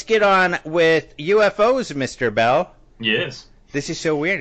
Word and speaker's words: Beall: bell yes this is so weird it's like art